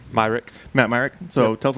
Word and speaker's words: Myrick: what how do you say your last name myrick myrick matt myrick so tell us a little about